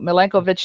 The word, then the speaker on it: Milankovitch: Somebody perhaps could look it up and get the right spelling and pronunciation. Milankovitch.